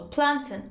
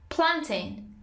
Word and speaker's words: plantain: say plantain plantain plantain stress on the first syllable plantain or planting planting moses times music